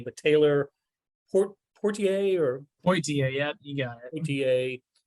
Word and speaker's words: Poitier: badly I felt for, help me with the pronunciation of the last name, but Taylor Poitier, yeah, you got it.